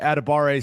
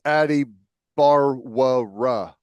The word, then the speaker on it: Adebawore: I know that the pronunciation guide says adabar. I ador I think it's adi barra.